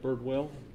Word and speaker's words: Birdwell: It's Birdwell. It's spelled like it sounds, a bird and a whale, B-I-R-D-W-E-L-L.